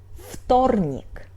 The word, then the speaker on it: вторник: The same situation is in вторник . В is voiced but it's before Т, so we pronunciate it like Ф — .